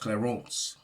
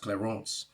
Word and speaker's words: Clarence: actually it's actually pronounced claron it's a French name it's pronounced claron that's the true pronunciation